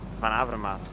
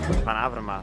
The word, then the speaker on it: Van Avermaet: Uh I heard you had some trouble with pronouncing my name. It's Greg Van Avermaet. Van Avermaet. Van Avermaet. Hello? Okay, just a second. It's for you. Van Avermaet.